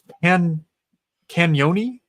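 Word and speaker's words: Cagnoni: Luca Canyoni. The G is silent.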